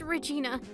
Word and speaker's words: Regina: Is it like Igna or It's just Regina.